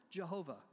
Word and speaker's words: Jehovah: In verse 3, when you see Lord in all caps, capital L-O-R-D, it signifies the name Yahweh, which used to be pronounced years ago, Jehovah.